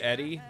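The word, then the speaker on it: ED-E: I go with Edie. I know it's supposed to be Eddie, but Edie just sounds better for the robot.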